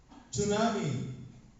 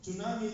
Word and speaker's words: tsunami: na sir English lesson tsunami sa ang silent t is silent 'di ba o tsunami T is silent honest is silent ba